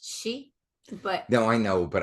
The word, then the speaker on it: Sith: But if I remember correctly, when it's spelled Sith, it's actually pronounced she.